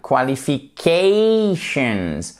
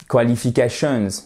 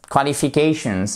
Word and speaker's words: qualifications: My qualifications, quand le mot se termine en tion, vous avez l'accent tonique juste avant. Ça va aller mieux comme ça. Juste là, ok? Et ça sera un A, qualifications. Pas qualifications, non. Qualifications. Et ici, c'est un I court skills, ok?